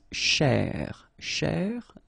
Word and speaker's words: chercher: So this first part here, C-H-E-R, you will pronounce it quite open, so it's cher, cher. Okay, and then here, just because you've got this er at the end, okay, if you remember, the rule goes like er at the end will be pronounced e. Okay, so you get che. All right, so cher, che, chercher. Okay, and the difficulty normally is, well, also in the repetition of ch. Okay, chercher, chercher.